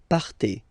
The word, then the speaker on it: partez: Okay, then for vous, classic ending for vous as well, ez, but then you pronounce it et, vous partez. Vous partez.